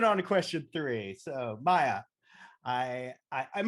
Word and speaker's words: Mya: so i'm moving on to question three so maya i i i'm not i'm pronouncing that right right yes all right coco